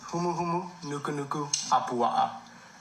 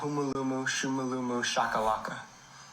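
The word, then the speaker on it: humuhumunukunukuāpuaʻa: It's pronounced humu humu nuku nuku apua'a, not humulumu shumulumu shakalaka.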